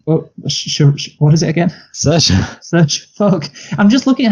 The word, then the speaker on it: Saoirse: It doesn't look anything like Saoirse. Yeah, you know what? I see. That's the thing. The trick is to not look at her name. let me look at her name right now. Yeah, if you look at her name, it just makes no sense. There's no H. Surely there's got to be a H in Saoirse somewhere.